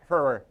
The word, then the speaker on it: February: See, I done enunciated all the syllables in February, because most people I come, they be like, February. You know what I'm saying? It's February 27th.